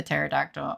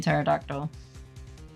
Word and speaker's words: pterodactyl: OH, sometimes I forgot you're not supposed to pronounce the the P in pterodactyl.